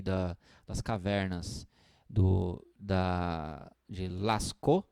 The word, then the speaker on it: Lascaux: das cavernas do da lascou se escreve lascaux l.a.s. sceaux lascas mas se diz se lascou que é uma uma